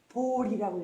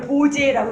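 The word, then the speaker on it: 菩提: 근데 이거를 보리라고 해서 불교만의 독특한 그 한자 독법입니다. 이걸 보제라고 읽으면 안 돼요. 불교에서는 이걸로 보리 이렇게 있습니다.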